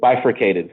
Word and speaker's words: bifurcated: Bifurcated. Bifurcated, thank you.